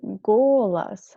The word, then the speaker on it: голос: И я забыл твой голос. We already had it. Голос should be read like with «а».